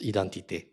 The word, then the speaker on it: identité: In case of French, the term is written like this and pronounced identité.